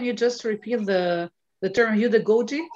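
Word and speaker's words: heutagogy: I know, I'm just saying Udagogy. It's with a T, but they pronounce Udagogy.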